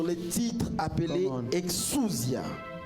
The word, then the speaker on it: exousia: exousia. It's a Greek word, exousia or exousia, depending on which pronunciation you are taking it from.